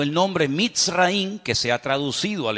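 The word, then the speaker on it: מצרים: país de Egipto que en la Biblia se pronuncia mitz raí se escribe al principio con una letra men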